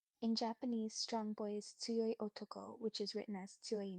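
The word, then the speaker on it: 強い男: In Japanese, strong boy is tsuyoi otoko, which is written as tsuyoi no. Please repeat. Tsuyoi otoko is the Japanese phrase for strong boy. It's pronounced soyotoko.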